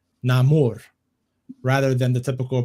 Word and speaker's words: Namor: a recent clip from the film sees Huerta pronouncing namor's name namur rather than the typical pronunciation of Neymar Namor